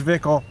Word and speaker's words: Zwickel: I say look up the style so I'm pronounced vical the flagship lager of our reverence serious classically